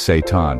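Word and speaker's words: seitan: Yes, the name is Satan, pronounced Satan.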